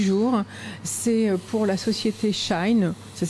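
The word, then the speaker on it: Shein: dernière info du jour c'est pour la société shine ça s'écrit shan5 de la marque qui fait un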